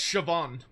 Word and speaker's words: Siobhan: Yeah, that's how it's spelled for them. Wait, say so say the name again. That's Siobhan.